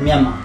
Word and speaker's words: Myanmar: We pronounce it Myanmar.